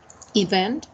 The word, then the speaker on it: event: And the third one, it's event. It has 2 syllables, and the stressed one is the second one.